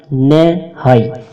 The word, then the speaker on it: نہائی: رہے۔ آمین۔ نہائی ہندی زبان کا لفظ ہے۔ تلفظ نہائی، معنی آہرن سندان، لوہے کا اڈا جس پر